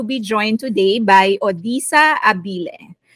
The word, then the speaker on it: Abille: I am very happy to be joined today by Odyssa Abille. In the U.S., we actually pronounce this Abille.